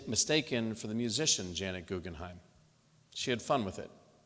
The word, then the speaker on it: Guggenheim: Even though she married into the family, she wanted the Guggenheim family to know that it was actually pronounced Guggenheim, and she would introduce herself that way.